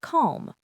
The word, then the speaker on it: calm: It's also silent in words like calm, palm, and the modal verbs should, would, and could.